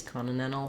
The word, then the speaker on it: continental: in some phrases and know that using the t's here is a very good option to be clear and